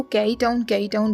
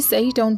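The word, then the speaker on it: Caiyi Town: इसको कई टाउन नहीं बल्कि सई टाउन प्रोनाउंस करते हैं, तो आगे मैं इसको सई टाउन ही बोलूँगी, ओके।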